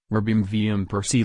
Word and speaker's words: Robin van Persie: Robin van Persie, Dutch pronunciation, Robin van Persie Listen, born August 6, 1983, is a Dutch football coach and former professional footballer who played as a striker.